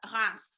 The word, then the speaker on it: Reims: Reims, they pronounce it like that.